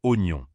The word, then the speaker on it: oignon: Il faut bien prononcer le OI comme dans oiseau et le GN comme dans Espagne.